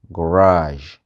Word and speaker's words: garage: Wannan garage ne, su sun rubuta shi a matsayin garage, a'a, garage. So shine haka ake pronouncing wa'insu kalmomin masu letter G wanda aka aro daga French amma in dai kalmar turanci ne mai letter G ba ta ɗauka wannan sound din.